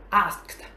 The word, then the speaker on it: asked: Ok, chúng ta sẽ có đọc là asked.